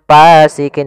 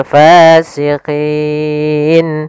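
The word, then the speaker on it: فاسقين: alif panjangnya dua harakat hati-hati dalam melafalkan Fa harus ada nafas yang dikeluarkan karena dia sifatnya sus jaryanun nafas jangan pasikin dengan P gitu ya banyak yang mungkin ada yang membacanya dengan pa gitu ya dengan p Nah harusnya tidak dibaca dengan p kemudian padafal fasikin pada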